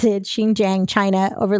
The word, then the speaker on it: Xinjiang: it up i heard it that's how you pronounce it xinjiang china over like the past two years um